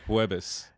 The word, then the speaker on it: Jueves: Jueves. Jueves? Mm-hmm. It's almost like eggs in Portuguese. Huevos or ovos.